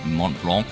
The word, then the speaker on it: Mont Blanc: the level requirements to unlock the summit of Mont Blanc. Yes, that's how it's actually pronounced, shocked me too.